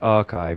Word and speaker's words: arXiv: ARX pronounced archive is a platform where researchers share scientific papers before formal peer review.